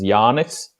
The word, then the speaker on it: Janis: His name is Janis, so it's basically like Latvian John or something like that.